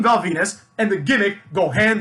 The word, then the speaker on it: Venis: has a name where the last name is venus which rhymes with penis right so immediately we